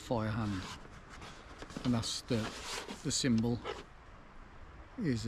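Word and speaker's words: Feuerhand: It's actually pronounced, I've been told it's pronounced fire hand, even though it says, well, it's German, so it's F-E-U-E-R and fire hand, but apparently it's pronounced fire hand, and that's the symbol is a hand with a fire on.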